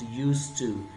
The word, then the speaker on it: used to: used to is pronounced used to alphabet D is written but it is not pronounced it is said used